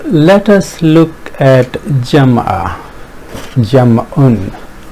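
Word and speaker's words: جمع: Jam'un is the right pronunciation if we fully vocalize it.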